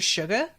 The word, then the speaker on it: Suga: I just want to say Mr. Suga because it's like, hey, sugar, like it's spelled like that.